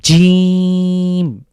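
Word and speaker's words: جيم: উপরের তালুর সাথে লাগবে বাংলার যে জ রয়েছে ঠিক সেরকমই বলতে পারি তো জিম এটাকে আমরা শক্ত করে উচ্চারণ করব এবং লক্ষ্য রাখবো এটা উচ্চারণের ক্ষেত্রে একটু লং করে পড়তে হবে অন্তত তিন সেকেন্ড তাহলে প্রিয় দর্শক আসুন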